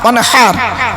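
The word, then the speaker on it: وانحر: দেখবেন ইন্না আতাইনা সূরা পড়ি, ইন্না আতাইনা কাল কাউসার ফাসাল্লি লিরাব্বিকা ওয়ানহার, ওয়ানহার হাই হতি গলার ভেতর থেকে এটা উচ্চারণ করবেন, ফাসাল্লি লিরাব্বিকা ওয়ানহার।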